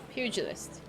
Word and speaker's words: pugilist: call her a mug the first syllable is pew pugilist it's a really old